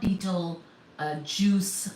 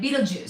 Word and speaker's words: Betelgeuse: Please do check my spelling, but it's not beetle juice like the fruit juice type of spelling, right? Betelgeuse.